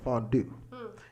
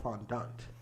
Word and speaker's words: fondant: And actually, it's actually not called fondue. It's called fondant.